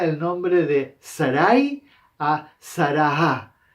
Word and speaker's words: Sarah: Nosotros en el español solamente escribimos Sara, pero en realidad va una H detrás de Sarah. Nosotros la H en el español no la pronunciamos, por eso tampoco no la escribimos en este caso, pero normalmente en las